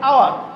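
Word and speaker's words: hour: আবার যখন আওয়ার উচ্চারণ করি, এইচ ও ইউ আর, সেটা উচ্চারণ হাওয়ার না হয়ে হয় আওয়ার, অর্থাৎ ও ইউ আর।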